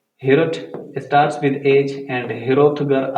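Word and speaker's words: Heorot: हाल का नाम था हिरोट। हिरोट भी आप सब प्रोनाउंस कर सकते हो और हिरोट भी कह सकते हो। Just remove this O and then से हिरोट।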